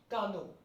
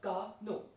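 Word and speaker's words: canot: Moving towards 10th one, we have le cano. Le cano. The last T is not to be pronounced, and hence the pronunciation will be like cano.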